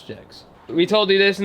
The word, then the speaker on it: Jegs: Do you think that's pronounced jegs or yegs? Bro, we're in America. That's jegs.